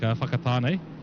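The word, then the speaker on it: Whakatāne: Um, it's uh it's pretty fun when you get anything starting with a wh and a k like fakatan. It is pronounced like that.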